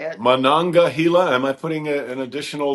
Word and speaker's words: Monongahela: The Allegheny, Ohio, and Monongahela. No, Monongahela. Shoot. I don't know how to say it. Monongahela.